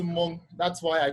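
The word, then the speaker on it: Mong: It's spelled M-O-N-G, M-O-N-G, but the G is silent. So it's pronounced Monk.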